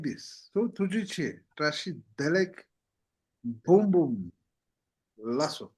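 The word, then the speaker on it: ཐུགས་རྗེ་ཆེ།: Tukjeche.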